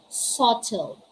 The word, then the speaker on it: subtle: the words doubt doubtful subtle death we're not going to say don't doubtful subtle or depth letter b is silent if this is the case the b comes before the letter t it's doubt doubtful subtle